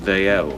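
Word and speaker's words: Dalziel: Old Scots name, pronounced Daiel.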